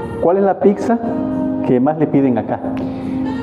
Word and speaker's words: pizza: hace ratito al inicio, chef, ¿cómo se dice pizza, su nombre correcto? Pizza. Pizza. Pizza. Pizza. Pizza. Que es originaria de... Sí, no se preocupe. Es originaria de Italia. Preparada por chef 100%. Y ¿cuál es la pizza que más le piden acá?